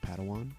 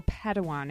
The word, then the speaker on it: Padawan: assigned a pad one to this bold Jedi pronounced Padawan Oh Padawan excuse me hey it's getting late I think